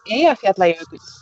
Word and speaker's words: Eyjafjallajökull: The Icelandic volcano name is Eyjafjallajökull.